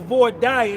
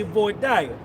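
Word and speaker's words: voir dire: the void process or void dire the way I like to say it. You don't tell me how to pronounce it. I say void dire that y'all picked and you lost.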